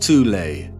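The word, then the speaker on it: Thule: called the th Society sometimes alternatively pronounced tulle that had subactions within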